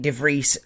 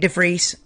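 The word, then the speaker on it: de Vries: for nick dufrese um i am saying it like nick devries as in fleece because that's how david croft said it and david croft probably asked how do you say it um but yeah nick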